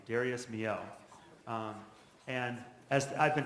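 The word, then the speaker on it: Darius Milhaud: I'll say the composer's name because it's not pronounced anywhere Darius moo is how you say the composer's name Darius moo um and as I've been told many times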